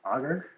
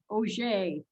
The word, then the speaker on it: Auger: you knew but wait so it's not pronounced auger all these years i've been saying it wrong oh no that's all right so for the record it is o'shea it's a pronunciation um carried on from quebec by my french canadian